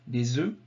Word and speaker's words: œufs: Mais vous voyez que la prononciation change au pluriel. Un œuf, des œufs.